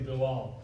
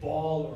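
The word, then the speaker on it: Bilal: you know I say they ask me what's my name I say billal okay but then uh you know usually some people have trouble pronouncing I don't I don't really mind how people pronounce my name I never really correct it just say say blah blah whatever you know but then some go say ball or bold and that's what I'm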